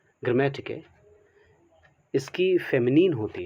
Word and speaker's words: GRAMMATIKE: ग्रामेटिके, बहुत लोग इसे टिकने भी पढ़ते हैं, ग्रामेटिक ने, ओके।